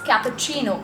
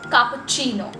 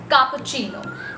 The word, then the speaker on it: cappuccino: type of coffee which is cappuccino normally we pronounce it as cappuccino but the correct pronunciation of this particular word is cappuccino it's cappuccino that's the correct pronunciation of cappuccino now this